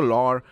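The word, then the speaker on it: Loire: it says from the lore and into the world lor i believe is the best way to pronounce it which is come from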